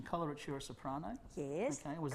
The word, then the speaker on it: coloratura: but i'm sure you'll tell me the right pronunciation coloratura soprano yes okay correct yes would you tell